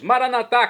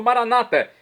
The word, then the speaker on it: maranatá: E agora eu clamo do aramaico, dialeto de Jesus, maranatá, como dizemos nós católicos, ou maranata, como dizem nossos irmãos das comunidades evangélica ou protestantes, comunidades que nós respeitamos muito, são nossos irmãos separados.